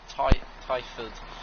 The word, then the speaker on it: Twyford: I think it's Twyford, or it's either Twyford or Twyford. I'm going to say it's Twyford because sometimes you'd not pronounce W, you know.